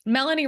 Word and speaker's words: Melanie: Hey, Melanie rhymes with felony.